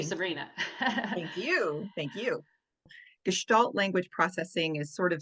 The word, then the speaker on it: Gestalt: We will be discussing Gestalt Language Processing, and I know I pronounced that right because Sabrina is German and she told me how to pronounce it.